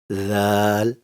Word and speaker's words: ذ: When the tip of the tongue touches the inner edge of the two upper front teeth, the sounds Sa, Zal, and Gha are produced.